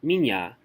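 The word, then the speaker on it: меня: Now, a good way to remember this is like the word minya. It's spelled like mienya, but you don't say mienya, you say minya.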